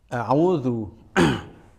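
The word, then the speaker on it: أعوذ: Pertama adalah huruf hamzah. Pastikan makhrajnya sesuai dengan makhraj hamzah yang ditentukan di ilmu tajwid, yaitu di pangkal tenggorokan. Hati-hati jangan sampai membacanya a'udzu, a'udzu, harus di pangkal tenggorokan. Harokatnya a itu ya tidak perlu sampai a'udzu, ya, a'udzu. Ya membuka tapi tidak selebar itu.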